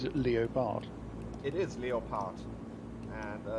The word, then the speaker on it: Leopard: in writing it's just it's written exactly the same as in English it's just the pronunciation that's different oh so is it Leo Bart it is Leo part and it's just that